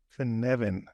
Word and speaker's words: Cynefin: let's move on to for Nevin am I saying it right yes it's my knowledge I